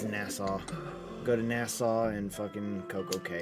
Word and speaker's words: Nassau: to probably go to nasay as well will or nasau I always pronounce it weird it's Nassau go to Nassau and